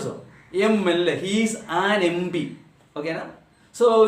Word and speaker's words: MP: Though letter is consonant, sound is vowel, so it should be with the an MLA, an MP.